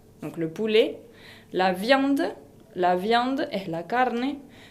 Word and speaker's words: poulet: Ahora, los tipos de carne son le poulet es el pollo, le poulet con una T final qui ne se prononce pas, donc le poulet, la viande es la